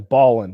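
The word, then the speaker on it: Ballen: getting his name right it's like mr and then ballin ballin is spelled b-a-l-l-e-n and uh he does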